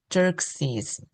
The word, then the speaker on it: Xerxes: 스펠링하고 발음이 좀 어려워 보이죠? Z 발음입니다. Xerxes.